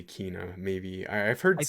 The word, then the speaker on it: Kena: So they pronounced it in the state of play as Kina. Okay. I thought it was Kenna, and then I heard